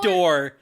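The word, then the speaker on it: Dore: They call Door. It was Door. It's spelled D-O-R-E. But Dory. Dory?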